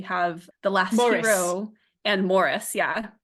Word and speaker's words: Maurice: the last hero and Morris yeah well done you pronounced it correctly thank you my my inclination is to say Maurice so have to think about it every time you know what tripped